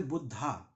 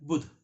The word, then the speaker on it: बुद्ध: है मैं दू जैसे बुद्ध यह गलत है बुध शब्द है बुध द राइट वर्ड इ बुध नॉट बुद्धा ए is silent one we write B U double D एच ए सो ए is silent वो इंग्लिश भाषा का एक तरीका है कि य शांत रहता है हम बुध ही बोलेंगे उसे बुद्ध रंग है